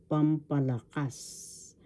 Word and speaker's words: Pampalakas: In Tagalog, pampalakas. First syllable pam, second syllable pa, third syllable la, fourth syllable kas. Pampalakas. The accent is in the fourth syllable, pampalakas.